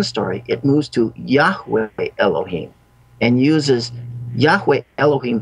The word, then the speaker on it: Yahweh: Now, this is pronounced in Hebrew, Yahweh.